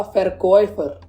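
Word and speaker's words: Verkäufer: तो अब इसके बाद आता है देया फेरकॉयफर, इसकी प्रोनाउंसिएशन फेरकॉयफर ही होती है। अब आप सोचोगे ऊपर बेकर आया था और यहाँ फेरकॉयफर बन रहा है, तो ये इसलिए बन रहा है क्योंकि ए के ऊपर उमलाउट लगा है और उमलाउट के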